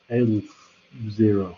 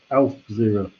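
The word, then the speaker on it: aleph zero: call it this thing which is pronounced elf zero i think it's the hebrew letter a as in alphabet alf zero from the alphabet and the fact it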